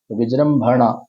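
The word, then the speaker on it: विजृम्भण: उच्चारण उच्चारण करते समय जो पीछे का म है इसमें तो आधा ही म लिखा है तो मेरे को इसको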